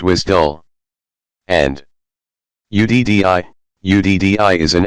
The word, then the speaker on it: WSDL: between web service applications WSDL is pronounced as wisdom and di uddi is